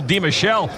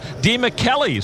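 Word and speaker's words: DeMichele: table in ' 06 we knew him as Michael De Michelle folks later convinced him to stay true to his Italian roots and pronounce it D Melly so he did flop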